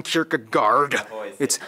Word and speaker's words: Kierkegaard: Hans Christian Anderson philosophers that's actually how you pronounce his name wow it's not storing Kierkegaard or whether it be